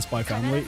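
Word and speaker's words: Spy × Family: Because apparently the X is silent in Hunter Hunter and Spy Family.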